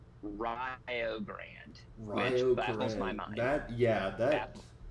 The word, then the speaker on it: Rio Grande: That is uh they're they're like in Indiana and they pronounce and there in Indiana they pronounce it Rio Grand that yeah that that sounds like it breaks every rule that's wrong.